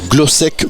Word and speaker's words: Glosek: partenaires des florents de Lomagne comme la société glosc gourmet bonjour bonjour J'ai bien prononcé oui tout c'est Sandrine c'est ça c'est